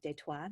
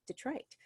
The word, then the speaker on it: Detroit: And of course, like many things, we have started to pronounce it a little bit differently. Instead of Detroit, now it's Detroit.